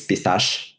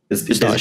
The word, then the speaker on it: Pistache: It's a French name. So for me, it's Pistache. Pistache.